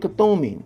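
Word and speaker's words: Kuthumi: That's how you say it, Kathumi.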